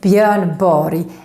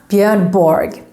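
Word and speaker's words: Björn Borg: body yes that's right his name is bjorn bori and not bjernborg remember that which name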